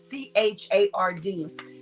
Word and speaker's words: Burchard: It's either Burkhard or Burchard. Burchard.